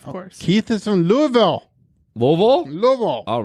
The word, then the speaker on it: Louisville: Keith is from Louisville louville Lille all right I said it right louville you got to kind of you kind of got say it like you're drunk Yeah so basically I